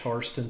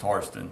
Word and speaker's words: Hairston: I'm here with Lash Harston today. Lash, I pronounced that right, right? You You did. We misspelled it, but you pronounced it right. So, it's spelled like Hairston and pronounced Harston.